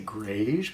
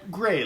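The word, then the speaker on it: greige: So it's very odd when people see it for the first time, they think, am I supposed to say grayish? But it's said gray, like the color gray.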